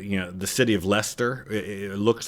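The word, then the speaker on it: Leicester: of phonetically read it, it looks like Lchester, but they just went with Lester because it just kind of cuts out all the middle stuff.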